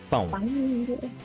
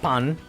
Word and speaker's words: pão: Pão. Pão. Pão. Not pan. Pão. No. Yeah, pão.